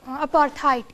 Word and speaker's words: apartheid: So what's the pronunciation of the word apartheid?